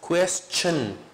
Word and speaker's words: question: The transcription of this is che, not she. Question, no question, not she. It is question, question, question.